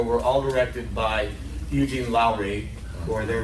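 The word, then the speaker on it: Lourié: all directed by Eugene Lowry or there what is your pronunciation ler but he was by guarantee you when he worked in Hollywood he's called Eugene Lowry is probably correct who was an an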